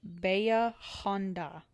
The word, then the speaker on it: Bahia Honda: So it says, how do I say it and what does it mean? Bahia Honda. It says Bahia Honda and it means deep bay in Spanish and is commonly pronounced Bahia Honda.